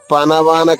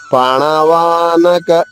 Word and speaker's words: పణవానక: భేర్యశచ పణవానక ఇక్కడ చూడండి రెండు నాలు ఉన్నాయి ఒకటి అణ రెండోది న పణవానక పనవానక అనకూడదు పణవానక గోముఖః ఖ మహాప్రాణము దీర్ఘము